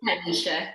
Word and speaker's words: TyLisha: So TyLisha, am I pronouncing that right? TyLisha.